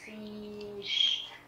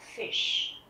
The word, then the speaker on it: Fisch: Tất nhiên là chúng ta không có đọc là der Fisch, bởi vì đây là âm Y ngắn. Các bạn nghe lại nhé. Der Fisch.